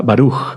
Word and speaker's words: baruj: Por ejemplo, perdón, y o y la interpretación puede ser la primer sílaba fuerte y la segunda sílaba suave. Por ejemplo, con la palabra baruj, bendito barug. Sí, la primera fuerte.